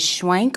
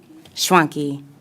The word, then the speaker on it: Schwanky: excuse me, pronunciation of your last name, is it Schwank or Schwanky? Schwanky.